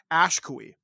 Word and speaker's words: Ashkui: Actually, you're actually pronouncing it very close to the way it's pronounced in Ojibwe, and what that means in Old Ojibwe, which is how you're very close to pronouncing it, means the one who is last standing. But the way Oh. I pronounce it is Ashkui.